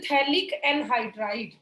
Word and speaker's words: थैलिक एनहाइड्राइड: Reaction of phenol with थैलिक एनहाइड्राइड। बेटा पी और एच यहाँ पे साइलेंट है, इट इज थैलिक एनहाइड्राइड। तो फिनोल की रिएक्शन हम यहाँ पे करेंगे थैलिक एनहाइड्राइड के साथ।